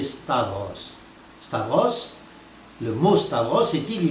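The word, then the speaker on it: σταυρός: Alors, ils prononcent mal d'ailleurs la plupart du temps, ils prononcent stauros, mais en grec, sachez que la bonne prononciation c'est stavros.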